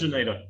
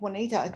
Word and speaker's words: Johnita: phone as Johnita. Oh, well, fair enough. You cheated. Well done. I had a guy tell me years ago, oh, so your name's Juanita. No, it's not Juanita.